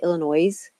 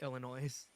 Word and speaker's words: Illinois: people who say Illinois. No, S is silent. That's true. Or I don't I know. still Just correct people when people say Illinois.